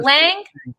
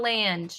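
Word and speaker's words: Lange: lynch l-a-n-g-e jim lane was it lang or land it would just be lang lang do you know some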